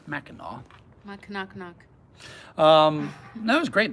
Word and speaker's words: Mackinac: to mackinac island which is spelled mackinac but pronounced mackinac knock-knock um that was great the upper peninsula